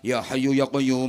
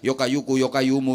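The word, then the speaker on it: يا حي يا قيوم: Dikasih ijazah sama kiai suruh baca ya hayyu ya qayyum, ya hayyu ya qayyum, ya hayyu ya qayyum. Keliru bacanya. Yo kayu, yo kayumu, yo kayu, yo kayumu, yo kayu, yo kayumu, yo kayu, yo kayumu.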